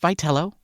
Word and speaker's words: Vitello: Number one, it's pronounced Vello, or at least it is for now until we hear differently.